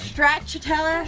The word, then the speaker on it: stracciatella: We open it up, and it's got all of this stracciatella cheese. I probably am not saying there's that right. no chance you said that right. Stracciatella?